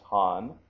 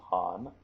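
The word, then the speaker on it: 漢: which is the uh the Chinese pronunciation of this kanji in this case it's Han which uh this comes from the Han Dynasty so that's Han and uh also the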